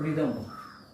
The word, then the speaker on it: rhythm: आर के बारे में है तो रिदम, RHYTHM, आर साइलेंट रहता है।